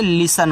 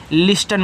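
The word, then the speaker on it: listen: एस से आपका छोटा सा और एन से आपका ना ए आपका यहां पे लिसन हो गया। लिस्टन मत पढ़ना।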